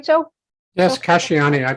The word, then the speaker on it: Casciani: Yes, Casciani. I pronounce it Casciani.